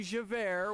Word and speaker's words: Javert: how easy this is that would be Javert which is j-a-v-e-r-t and is already pronounced as air you know two former